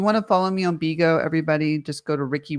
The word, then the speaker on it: Bigo: Bigo is it's spelled Bigo, like big, Bigo.